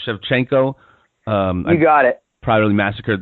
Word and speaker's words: Shevchenko: I don't know how to pronounce her last name, Shevchenko.